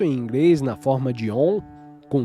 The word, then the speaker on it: Om: Em inglês, Aum às vezes é escrito com 2 letras na forma de Om, porque o inglês é um ditongo e porque a maioria das pessoas, ao ler Aum, pronuncia o A longo como na palavra car. Esse A longo é um erro. Om é a pronúncia correta.